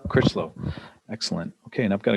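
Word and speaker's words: Crichlow: Critchlow? Critchlow.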